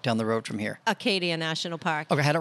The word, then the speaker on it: Acadia: cool national park down the road from here acadia national park i had it right okay acadia national park and isla ho is actually part of acadia national park part of it yes actually acadia